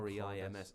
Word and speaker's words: Reims: But you do But it's pronounce this almost as like Rams, it not almost in sounds Ren. like an N to me, like it's Stade de Reims, Rams. which is weird. I Reims.